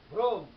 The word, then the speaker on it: ভ্রম: যেমন দেখো ভ্রম, ভ্রম, ভ্রমটা কিরকম আমরা উচ্চারণ করি দেখো, ভয় র ফলায় ওকার, ম, একটি হসন্ত থাকতো, ভ্রম, কারণ আমি ভ্রম বলি না, বলি ভ্রম।